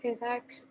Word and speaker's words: headache: A headache. Oh, headache. ¿Cómo se pronuncia? Headache. No, it's a K, headache. Headache. K. Yeah, K. it makes a K sound, sorry.